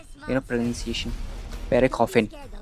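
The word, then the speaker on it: Pierre Coffin: इसको डायरेक्ट कर रहे हैं पेयर कॉफिन, PIERE, मतलब स्पेलिंग प्रोनाउंसिएशन पेरे कॉफिन।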